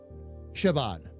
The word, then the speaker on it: Siobhan: Okay, the name Siobhan. All right. Now, the way I just said it is actually correct pronunciation. Okay. What people miss is that, and this is what made me think of it, that drunk B that's usually in the name.